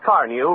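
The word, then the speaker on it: Carnu: your own pleasure buy a can of Johnson's car new right away it's spelled c-a-r-n-u this is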